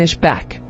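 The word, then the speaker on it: Ishbak: isak origin Hebrew ispak meaning he will leave pronunciation is back Bible verse Genesis 252 ESV she bore him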